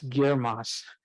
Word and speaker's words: GIRMOS: it's a mouthful and we spent a lot of time figuring out how to pronounce it and it's girmos so it's easy to